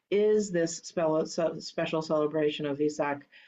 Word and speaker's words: Vesak: And then since today is this special celebration of Vesak, also sometimes pronounced Wesak, Vesak is a more correct pronunciation, I believe.